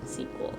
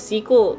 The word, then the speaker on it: SQL: uh you're pronouncing that wrong you're supposed to pronounce it sequel i'd be like okay well like you can spell it out if you pronounce it squeeze oh yeah even last week some people said sequel sql didn't someone say about sql what is sql